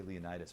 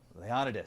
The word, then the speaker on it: Leonidas: misty air sorry man I was gonna say Leonidas but how do you say your name again lay on it is see thanks buddy we're